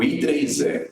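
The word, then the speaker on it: IEEE: Eletrônicos, né, instituição americana, o I3E, é assim que se pronuncia.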